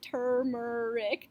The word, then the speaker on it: turmeric: moving on to turmeric and that's how you pronounce it turmeric the British pronunciation I think is tal Merrik